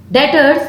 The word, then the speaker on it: debtors: Debtors, why debtors? If we sell our goods on credit, what are debtors? B is silent.